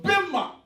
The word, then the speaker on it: bema: Le bema. Pas le bima. Le bima, c'est les prononciations en anglais. Le bema.